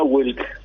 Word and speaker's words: Wilk: Don, eh, ¿cómo se pronuncia tu apellido? Eh, sería Wilk.